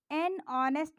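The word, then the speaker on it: honest: है लेकिन यहां पर यह जो है यह साइलेंट है तो क्या हो जाएगा ऑनेस्ट मां यहां पर भी देखें हम हा जो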